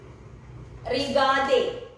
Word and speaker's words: regarder: I have told you when S is followed by a vowel, it should be pronounced ilzaim, elzaim. This is the verb aim. Last one more verb for today. Regade.